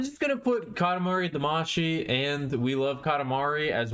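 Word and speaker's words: Damashii: m a c y it's damashi in Japanese it's da a m a sh I in Japanese Katamari damashi for some ungodly reason when they brought it over to America they changed the last syllable so that it reads like damasi instead of damashi and I have no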